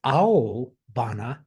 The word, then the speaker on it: aobana: This is aobana, blue flower. Excuse me, that's spelled Aobana, as opposed to indigo, which is aibana.